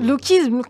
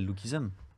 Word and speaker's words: Lookism: que lisum partout lism comment tu prononces mal American en plus c'est même pas ça le bon enfin c'est la version internationale mais c'est pas du tout ça en anglais c'est lookism SM à la fin mais qu'est-ce que tu